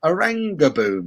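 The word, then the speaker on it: Oranjeboom: I said it's called Orange Boom. That's the best name for a brewery ever. Orange Boom. And apparently, or is it Orangey Boom? Orangey Boom. Apparently, Oranga Boom. Apparently, is how you pronounce it.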